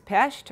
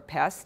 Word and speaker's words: Pest: This over here is Pest or Pest. It would be in English. The S is pronounced SH, so Budapest would be Budapest in Hungarian.